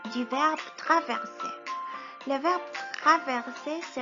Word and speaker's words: traverser: Le verbe traverser se prononce T-R-A, traverser.